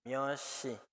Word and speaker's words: 몇 시: Solito suena miat, pero a la par tiene shi. Entonces, esta también se arrastra. Myoshi.